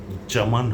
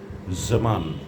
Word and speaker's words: জামান: এগুলো যদি আপনারা বারবার প্র্যাকটিস করেন তাহলে সঠিক উচ্চারণটি আসবে সেটা আর জামান হবে না। হবে জামান জামান জেড এর মত উচ্চারণ হবে।